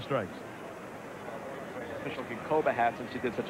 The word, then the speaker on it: Ginkoba: We welcome Steve Berger, who joins us here with a interesting cap of his own on G-I-N-K-O-B-A. How's that pronounced?